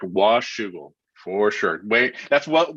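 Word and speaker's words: Washougal: how do you say that that is correct wash sugar for sure wait that's what well done from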